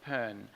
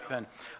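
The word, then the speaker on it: Bon: in older texts of pen and there it's spelled b-o-n but it's pronounced pen um and there are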